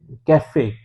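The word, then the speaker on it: café: अलामत इस्तेमाल हुई है काफे के ऊपर तो फ्रांसीसी में चूंकि हम एक की आवाज को आ प्रोनाउंस करते हैं इसलिए हम इंग्लिश की तरह इसको कैफे नहीं बल्कि काफे प्रोनाउंस करते हैं तो काफे का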